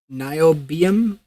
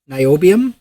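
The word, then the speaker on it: niobium: So, spell it. Nam. Uh, N I O B I U M. Nobium. Nobium.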